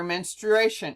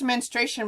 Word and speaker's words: menstruation: what two hormones trigger menstruation notice we say it's menstration but there's actually an are in there so it should technically be pronounced menstruation um two levels that